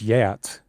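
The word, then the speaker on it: Geats: GS lived basically the Guats or I think it's I think it's Yats. Exactly. There's so many different pronunciations. Yeah. Uh I mean there's so many wrong pronunciations.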